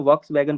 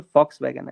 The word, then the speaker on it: Volkswagen: वही स्पेलिंग उसकी V से ही शुरू होती है। पहले मैं भी उसको Volkswagen पढ़ता था। लेकिन फिर पता चला कि यह Foxwagen है।